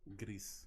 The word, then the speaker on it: Gris: A little game called Grease or Grease. How do you say it, Kenny? Gris. Grease. Okay, so that's the Spanish word for gray.